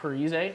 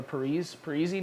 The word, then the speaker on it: Parise: Another injury, we have Zach Parise, or Parise now they call him. Parise now. He changed the pronunciation of his name.